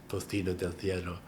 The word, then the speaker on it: tocino del cielo: Yeah, my favorite is their tocino del cielo, or as the Spanish pronounce it, tocino del cielo.